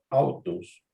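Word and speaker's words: αὐτός: Pero cuando se junta con alfa, en ese caso pronuncia como si fuera U. Exactamente. Pronombre personal de tercera singular. Él. ¿Cómo leería esto? Según el diptongo. Autos.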